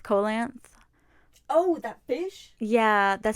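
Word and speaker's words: coelacanth: how to pronounce it it's sounds like coal length colance oh that fish yeah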